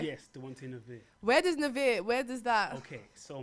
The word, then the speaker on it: Dwante Navire: Yes, Dwante Navire. Where does that? Okay, so my name. So if you take the word wanted Yeah, and okay. put the D in front, Okay.